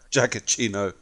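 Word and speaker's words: Giacchino: Ino I always wonder quite a jacket Eno jacket chino yeah that works actually I missed it I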